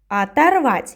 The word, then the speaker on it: оторвать: Оторвать. You remember, yes? When we don't have the stress, we pronounce it with A. but we write with O.